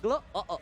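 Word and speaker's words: Gloo: Gelo O-nya tidak di tangan dari Pai. Gelu. Iya dong, Gelu. O-nya berapa? 2. Gelo O-O. Iya dibacanya kayak gitu.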